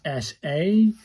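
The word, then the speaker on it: さ: This one is SA. The symbol has three strokes. It goes uh one does this, two does this, and three does this. And this is to speak pronounced like the sa in sardine.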